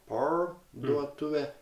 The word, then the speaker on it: parduotuvė: Parduotuvė? Good. You said tuve. You said too soft, but tuve. Tuve. Parduotuvė. Roll the R? R? R? No. You say parduotuvė.